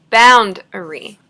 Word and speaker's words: boundary: though it's by itself it's not stress boundary the stress is still on the first syllable boundary so we don't say bound avery we sound bound every but rule for still